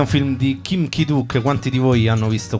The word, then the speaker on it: Kim Ki-duk: Kim Ki-duk. Kim Ki-duk. Devi dire la C, ma non la devi dire. Ok, ok. Kim Ki-duk.